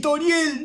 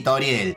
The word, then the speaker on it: Toriel: Otra cosa que me llamó mucho la atención, que me estuvieran reclamando, es que se pronuncia Frisk y Toriel, no Frask y Tarial.